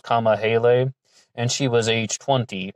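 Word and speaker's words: Kamahele: and Jeanette Kama Hale, K-A-M-A-H-E-L-E. I heard some people pronouncing her name Kamahel, but I think this one is pronounced Kama Hale, and she was age 20.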